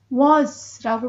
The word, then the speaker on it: words: 그런데 여기서는 was라고 발음하는데요. 영국식 발음은 R 발음을 보통 하지 않아요. 그래서 was of로 발음이 됐는데요.